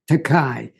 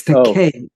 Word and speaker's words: Takei: It is not Takei. It's Takei. Takei. Okay. It's Takei as in Koenig.